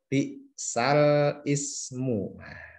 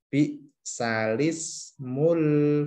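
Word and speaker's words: بئس الاسم: Jadi bacanya bukan bi'sal ismu tapi bi'salismul fusuqu ba'dal iman.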